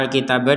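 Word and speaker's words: الكتاب: berhentinya di sini nah kata alkitaba di sini huruf bnya harakatnya fathah yang asalnya terbacanya itu Alkitab itu kita barusan membacanya Alkitab huruf ba-nya kita pantulkan kenapa karena kita berhenti di huruf banya ini sehingga harakat huruf banya sudah tidak terba terbaca dan harakat ba Ini sudah tergantikan dengan sukun Jadi huruf ba yang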